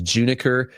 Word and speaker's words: Juniker: The other hitter that I absolutely love on the complex was Juniker Kakarz. I'll spell that out. It's J U N I K E R Juniker.